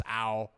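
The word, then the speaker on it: Álvaro: The B is spelled with a V, so it's Albaro.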